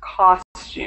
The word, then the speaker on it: costume: This one is pronounced costume. And the first is a custom.